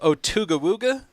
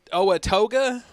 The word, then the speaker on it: Owatoga: It preyed on the Native Americans, eating them alive until a local chief, and I cannot pronounce his name, Chief Otugawuga. Keith? Oh, no. It's Owatoga. Oh.